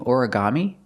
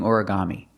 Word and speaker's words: origami: This is a Japanese word, but we have an American pronunciation. Ora, origami. 4 syllables. Origami. Put the stress on the first syllable and the third syllable.